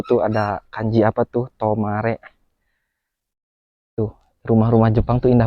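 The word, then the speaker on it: 止まれ: Ini ada kanji apa nih? Nah, dibacanya tomare.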